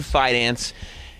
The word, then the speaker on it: Fidance: Doesn't it sound like there should be an N in there? It does. The first time he was on, I had to do a couple walkthroughs before, as I was pronouncing his name, figuring out exactly what the spelling is and everything. Yeah, but it's Ian Fidance.